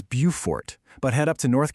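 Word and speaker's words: Beaufort: If you're in South Carolina, it's Bufort. But head up to North Carolina and they have their own viewfort which they pronounce Bowfort.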